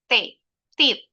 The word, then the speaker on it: teeth: Harus kedengaran bunyi th-nya. Kalau enggak kedengaran bunyinya jadi tet teeth.